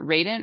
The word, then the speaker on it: Radant: how you've seen your last name is it Raiden or rat how do you say it we're Dan and I actually written my first name